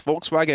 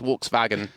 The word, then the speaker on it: Volkswagen: for some reason so if you ever hear like someone say Volkswagen in English it's Volkswagen in German it's Volkswagen Volkswagen yeah close close